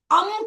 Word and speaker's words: अं: में, और 27 बार अम का उच्चारण करना है। पहले 3 बार हमें इस काव्य का वाचन करना है, 26 नंबर काव्य का, और 27 बार आ के ऊपर बिंदी, अम अम, इस तरह से वाचन करना है।